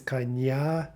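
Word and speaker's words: коня: we see that coin the generative is kanya kanya with that stressed ending that's telling us that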